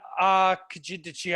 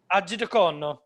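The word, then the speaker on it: Arcidiacono: who's on two-way, Chandler Hutchinson, Zach Norval, Ryan Archidichian. I struggled. Did you know how to say his name? Archidiacono.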